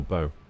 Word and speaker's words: bow: Because I don't know if it's bow or bow. Oh, cow. Okay, it's the bow of the ship then.